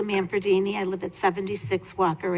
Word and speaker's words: Manfredini: very short thank you I'm manfredini I live at 76